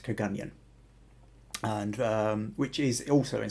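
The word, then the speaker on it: Kirkgunzeon: Now, if you're reading the comments, it does look like it's Kirkgunzion, but it is pronounced Kagunyan, and which is also in southwest Scotland, a few miles from here.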